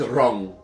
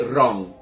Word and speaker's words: ron: Horchata with wrong. As the as the Latinos like to say, wrong. And it's spelled like that, too. They don't spell it ru, they spell it r o n.